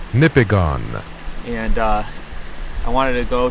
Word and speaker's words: Nipigon: I'm right outside the town, Nipigon, is I think how you pronounce it. Nipigon.